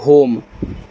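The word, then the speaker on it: home: एच ओ एम ई को पढ़ते हैं होम एच से आपका ह यहां भी देखो ओ का उच्चारण ओ की मात्रा एम से मा लास्ट वाले ई का होगा नहीं इसका वाला तो होम होम का मतलब आपका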